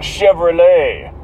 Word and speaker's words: Chevrolet: Well, Chevrolet. Well, the T is silent. That's French as fuck, isn't it?